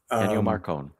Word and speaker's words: Ennio Morricone: wrote Ecstasy and Gold, which I can't ever pronounce his name, first or last. Ennio Morricone.